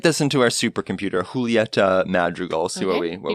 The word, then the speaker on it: Julieta: name her name is Julieta Madrigal so a lot of people say Julietta that just isn't uh her name it's it has a j but the J is more of a h